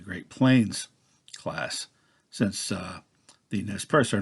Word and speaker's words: Nez Perce: the Nez Perce which if pronounced according to the correct French would be net cafe but you know Nez Perce is the Americanized kinda like Iroquois and